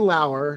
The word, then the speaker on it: Lauer: I have Ryan Lauer, spelled like Lower, sent me the '89 replica Batarang.